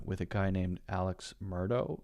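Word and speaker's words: Murdaugh: a guy named Alex Murdo I think his name is pronounced Murdo and he apparently pretty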